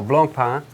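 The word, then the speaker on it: Blancpain: you cannot mess that out okay cool so Blanc pan did I say correctly yeah the intonation is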